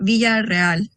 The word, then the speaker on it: Villarreal: And then before I move on, I would just want to double check on pronunciation. Is it Villarreal? Villarreal.